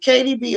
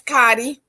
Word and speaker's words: Cardi: how to say it is it kdb or cardi b it's cardi all right so you